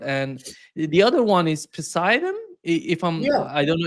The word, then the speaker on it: Poseidon: the latest news about the Burevestnik missile, the new, Yeah, nuclear powered, and the other one is Poseidon. If yeah. I don't know if I'm pronouncing it correctly.